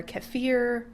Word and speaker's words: kefir: Some people say it's water kefir. They pronounce it different ways, but I say kefir.